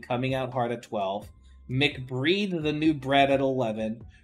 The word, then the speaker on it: MC Breed: that makes sense that you know mcbreed MC Breed I just let me say it properly MC Breed not mcbreed what the [ __